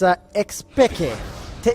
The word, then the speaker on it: xPeke: Also, I just got to remember, technically speaking, it's xPeke. Technically the way it's meant to be pronounced.